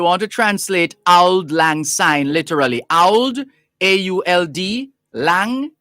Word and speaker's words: syne: once upon a time in scots sign s-y-n-e is pronounced like the english word sign s-i-g-n burns's verse is taken